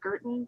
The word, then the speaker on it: Guertin: additional questions for mr guertin before am i saying that correctly yes it rhymes with curtin i i googled it